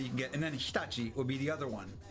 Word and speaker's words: Hitachi: It's going to be the best machines that you can get, and then Hitachi will be the other one. Once again, pronounced incorrectly by everybody here in America.